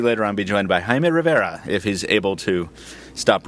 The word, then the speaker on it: Jaime Rivera: You need to roll your R's. Roll my R's like you do, Taylor? Can you give us a demonstration? Jaime Rivera.